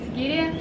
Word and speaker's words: Sigiriya: How do you say Sigiriya?